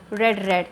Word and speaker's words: read: तो कुछ बच्चे इसको READ देख के रीड पढ़ते हैं लेकिन स्पेलिंग सेम है, प्रोनाउंसिएशन इज़ डिफरेंट।